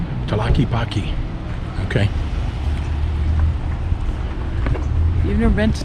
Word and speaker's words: Tlaquepaque: Okay, how do you pronounce that again? Tlaquepaque. Tlaquepaque.